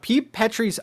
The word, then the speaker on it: Petri: Petrie's eyes. Petrie or Petrie? How do you say it? Like Petri dish.